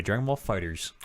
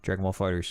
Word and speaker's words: Dragon Ball FighterZ: The official pronunciation, by the way, Dragon Ball FighterZ. Are we on? Yeah. All right. Yeah, Namco says Dragon Ball FighterZ.